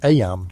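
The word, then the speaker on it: Eyam: It's now the summer of 1665, and we find ourselves in Aam, a small village nestled in the picturesque hills of Darbasher, England. Aam, you know, is pronounced just like em.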